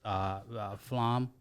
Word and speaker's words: Aflam: First time I heard about it was Aflam, right?